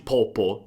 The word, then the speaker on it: proprio: E un'altra cosa che voglio farti notare è la pronuncia di proprio di Damiano che ha un accento romano e proprio diventa quasi popo, cioè proprio lo pronuncia davvero molto velocemente.